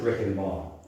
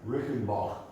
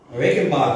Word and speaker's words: Reichenbach: We don't pronounce it Rick and Ball in German. In German, anybody know how you pronounce it? Rickenbach. Rickenbach. A little bit more guttural.